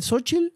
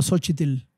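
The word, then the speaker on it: Xóchitl: presidencial qué eres mexicano se dice sochil o sotil es o sea realmente la fonética te permite ambas yo digo no no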